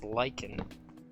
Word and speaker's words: lichen: way it's spelt and it's spelled lichen l-i-c-h-e-n but it's but it's said as lycan it is lycan let's see i used